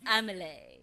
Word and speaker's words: Amelie: Amelie Jr oh it's the French pronunciation it's Amelie is it yes all